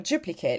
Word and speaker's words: duplicate: But if you're talking about a duplicate, like a noun, then you don't uh say the eight.